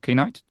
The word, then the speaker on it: knight: So this is a question for K-Knight. First of all, his ID is pronounced as K-Knight, is not Knight.